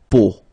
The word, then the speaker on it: peau: three vowels combined together, it's the sound O. Okay, so really simple, O. Okay, so you get la peau.